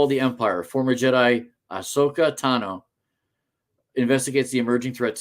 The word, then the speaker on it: Ahsoka: cannot wait till Wednesday Ashoka Asoka Ahsoka yeah I said it right Ahsoka premieres on Disney